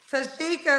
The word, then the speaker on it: Tashika: my name is tashika tashika is how you say it tashika where you calling